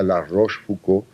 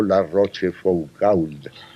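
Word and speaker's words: La Rochefoucauld: se decía chato Brian o se decía el arroz fucó y no la roche focal y es así la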